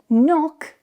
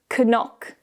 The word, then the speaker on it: knock: If you see k and n at the beginning of a word, the k is silent. So, the word knock is not pronounced as k-nock, but knock, knock, know, knee, knowledge.